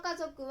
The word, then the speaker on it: 家族: être dessiné comme "家族" et le lire comme "ka zoku". Comme exemple d'utilisation de « zoku », dessinez la phrase « わたしの'家族'は4人です » et lisez-la comme « watashi no 'ka zoku' ha 4 nin desu ».